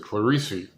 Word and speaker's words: Clarice: la spector that's right i said clarisse that's how luna pronounces that the codex cantina and he's done his